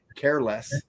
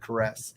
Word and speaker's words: Caress: totally bastardized that name I said careless instead of caress so I got I got made fun of by the great Ian Wadley on the Rock and metal combat podcast because I said it wrong it's caress you idiot I don't know